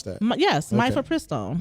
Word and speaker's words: mifepristone: You actually know how to pronounce that? Yes, okay. Mifepristone.